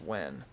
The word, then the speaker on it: Nguyen: That's what Chris's last name is, and it's pronounced Wen.